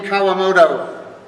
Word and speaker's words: Kawamoto: You might remember on the team named Eileen Kawamoto, which rhymes with that Wonderland dog named Toto, and yes, that other guy we know, Hashimoto.